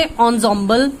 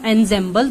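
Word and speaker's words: ensemble: देखो यहां आपको ये बता रखा है यहां पर कि इसे किस तरह से प्रोनाउंस किया जाएगा, इसे एंसेंबल प्रोनाउंस किया जाएगा. This is नॉट एंसेंबल, this is एंसेंबल of nine instruments found at royal court.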